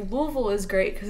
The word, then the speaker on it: Louisville: Louisville? Yeah, that's the Kentucky way to pronounce Louisville. If you say Louisville, you get banned because they'll kill you if you say Louisville.